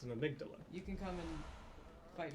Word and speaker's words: Amygdala: call because it's an amygdala you can come and fight me in the chat it's greek you pronounce it like the greek would but um is it's